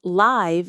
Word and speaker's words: live: I live in Boston, but I'm performing live in Chicago this month, and I'm having the time of my life. Did you catch the different pronunciations? Live, like give, for residing. Live, like five, for real-time performance.